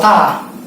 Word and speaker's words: da: Disebut tadi kan gansau doang. Nah, teknik motongnya ta. Tulisannya DA, da. Dibacanya ta.